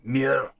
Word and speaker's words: Muir: I said to her, "Is it Muir?" I said, "How do you pronounce it?" She went, "Muir."